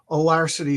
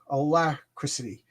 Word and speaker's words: alacrity: Oh, alarcity is similar to agility.